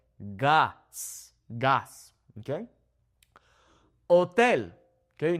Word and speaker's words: hotel: Hotel. Okay. Notice how the H is silent here.